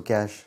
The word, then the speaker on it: cache: सी एच ई इज कैश सी एस एच is also कैश दोनों words का pronunciation same है लेकिन spelling और मीनिंग्स डिफरेंट है अलग है ऐसे वर्ड्स